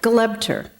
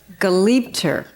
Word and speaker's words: Galibter: Glebter. Is that right? No. I'm getting everything right today. Galibter.